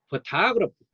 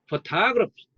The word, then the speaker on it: photography: 이런 경우는 다시 for가 되고 타로 강하게 발음이죠. 제2음절을 photography photography.